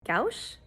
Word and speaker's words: gouache: Gouache, gouache, gouache, gouache. The correct pronunciation is gouache, gouache. You say it kind of like all one word, gouache.